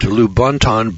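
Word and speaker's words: Lubaantun: The 11-pound skull was unearthed by Michael Hedges at Lubonton, British Honduras. Now, this is spelled L-U-B-A-A-N-T-U-N. Lubonton, British Honduras.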